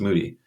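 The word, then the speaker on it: Moede: oh oh Titus Moody it looks like mode but it's m OE D pronounced Moody and eventually he just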